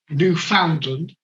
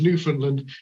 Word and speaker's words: Newfoundland: has put tara reed pronounces newfoundland the way it is spelled newfoundland the correct pronunciation is newfoundland not a minor error